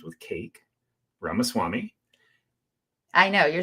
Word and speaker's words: Ramaswamy: We have businessman Vivek, rhymes with cake, Ramaswamy.